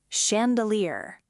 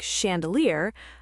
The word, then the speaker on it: chandelier: If a word looks modern French, elegant, food related, fashion or art related, ch often sounds like sh like in chef, machine, brochure, chandelier.